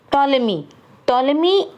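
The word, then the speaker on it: Ptolemy: Okay, now टॉलेमी and Egyptian, इसमें P silent है बेटा.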